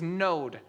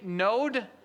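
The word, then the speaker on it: נֹד: The Hebrew word for wanderings is node. N O D rhymes with toad. Okay, so say that with me. Node.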